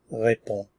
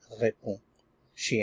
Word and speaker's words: réponds: Tu, we start with our root, and then we add the ending, which is S, pronounced the same as above. Tu réponds, tu réponds, tu réponds.